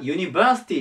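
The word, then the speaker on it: university: ですで次がユニバーシティですバーティまここにアクセントが来るんですがこれが大学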